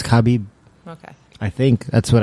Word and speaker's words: Khabib: Is it Kabib or Kabib? Kabib. Khabib. I don't know. You're just making that up. I I've been saying Kabib. Kabib. Is it Kabib? It's Khabib.